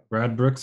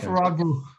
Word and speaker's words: Radbruch: Um which was on um Radbruch's formula. Gustav Radbruch. I'm not sure that I pronounce it correctly.